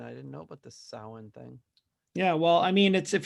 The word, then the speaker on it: Samhain: Yeah, well, I mean, if you look at the way that it's spelled and you don't know any, you think it's Samhain, but it's not pronounced that. Samhain. Yes, Samhain, which, of course, like an idiot, I thought it was for years until I was like, then I heard the real pronunciation.